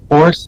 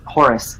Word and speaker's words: Horus: Do we know where Horace is at? Or Horace, or how to say his name? Yeah, he's Horus, like the Egyptian god of vengeance.